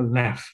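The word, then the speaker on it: לב: sebenarnya itu huruf uh, B apa namanya ya B bacanya V kalau left intinya itu bacanya left dan itu yang kita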